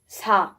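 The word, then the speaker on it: 사: Number 4 in South Korea, South Korean is pronounced sa. Okay, so 4 is sa.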